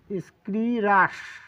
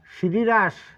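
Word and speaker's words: scirrhus: এস সি আই আর এইচ ইউ এস এর উচ্চারণটা হচ্ছে স্ক্রিরাস দেখুন এর উচ্চারণ কিন্তু তিন রকম আছে বাংলা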